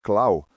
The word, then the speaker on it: Clau: Bem, então o nome do jesuíta alemão do qual eu estive falando é Christoph Clau. Pronuncia-se clau. Vocês não vêm o trocadilho. Clau du.